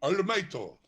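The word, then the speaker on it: オールマイト: So in Japanese pronunciation it's called All Mighto, right? You mean to tell me? You swear to God, the guy's name is actually Arumaito.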